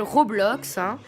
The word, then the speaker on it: Roblox: que qu'on m'a proposé elle s'appelle re blocks comme ça se prononce voilà ça va être